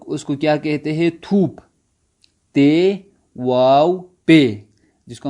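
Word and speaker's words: توپ: تھوپ. تے واو پے، جس کو ہم فارسی تلفظ میں پڑھیں گے تھا واو پھا، تھوپ.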